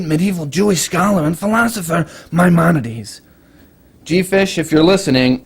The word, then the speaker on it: Maimonides: Jewish scholar and philosopher Maimonides. G-Fish, if you're listening, I told you it wasn't pronounced marmalade.